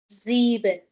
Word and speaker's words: sieben: So, because after S we have vowel, we will be having Z sound for both number 6 and number 7. Sechs, sieben.